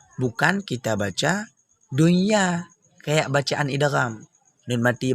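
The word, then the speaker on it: دنيا: Jangan nanti dibaca kayak baca idgham, salah. Dunya, salah. Yang betul dunya, dunya.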